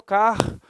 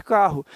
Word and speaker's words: carro: Eu não pronuncio o R 2 vezes. Eu não falo carro. Ninguém fala assim, né? A gente fala naturalmente carro.